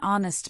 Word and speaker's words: honest: Since a silent h is followed by a vowel sound, we say an hour, an honest man.